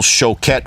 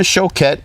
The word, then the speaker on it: Choquette: I used to say Choquette, and a member of the actual Choquette family called me and said, you're pronouncing our name wrong. So now I'm calling it Choquette.